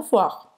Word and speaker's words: voir: Então, o I em francês é como wa, wa, voir. E o R na garganta, que fica na garganta, voir. Voir. Então vai terminar a pronúncia com esse R aqui na garganta.